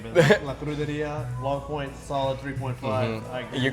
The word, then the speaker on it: La Cruderia: I didn't want to mispronounce it. La Cruderia. La Cruderia.